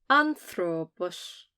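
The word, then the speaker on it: ἄνθρωπος: you know that that one has to be pronounced A, A. Otherwise the sound is short A, A, A. A, A, A. Anthropos, anthropos.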